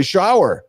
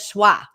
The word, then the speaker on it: Schwear: She says Schwa. I'm like, Mom, it's not Schwa, it's Schwear.